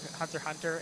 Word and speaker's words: Hunter x Hunter: like he got into Hunter x Hunter, and he pronounced the X. I told him that it was pronounced Hunter x Hunter, you uncultured swine!